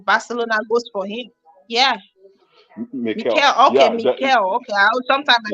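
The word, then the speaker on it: Míchel: Miguel of Girona, the manager of Girona. What if at the end of the season Barcelona goes for him? Yeah. Mikel.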